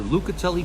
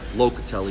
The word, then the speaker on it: Locatelli: shout-out to my sponsor Luca tele cheese or Locatelli because a lot of times I say it wrong for sponsoring Mike Marino